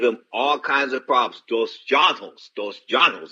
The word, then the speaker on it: dos Anjos: Dos Janos. That's the way he wants his name pronounced.